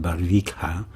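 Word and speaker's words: Barvikha: a r VI K ha a and I pronounce it barika Russia but I want you to listen to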